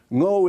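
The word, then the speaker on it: Ngô: also called the bino no is the Vietnamese pronunciation of the Chinese character woo woo is the state around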